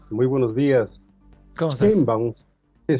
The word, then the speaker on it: Sheinbaum: Entonces, la pronunciación de Sheinbaum, cuando lo pronuncia un judío askenazi, suena como a Steinbaum. Pero para que nos entendamos bien, es Claudia Sheinbaum Pardo. Así es. ¿Y cómo pronuncian los mexicanos? Igual Sheinbaum, Sheinbaum. Sheinbaum, Sheinbaum, Sheinbaum.